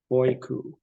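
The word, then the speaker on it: οἴκου: Here you've got a diphthong with both the breathing and the accent on the second vowel. oiku, oiku.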